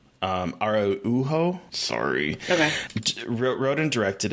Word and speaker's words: Araujo: I think that writer-director Beth Day Arujo, I apologize, I do not know how to pronounce the last name. Araujo, sorry.